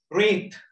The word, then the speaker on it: wreath: Wreath. මල් වඩමට අපි wreath කියලා කියනවා. ඒක wreath නෙවෙයි wreath. Wreath කියලා pronounce කරන්නේ. එතකොට කියවෙන්නේ නැති letter එක මොකක්ද? What is the silent letter? W.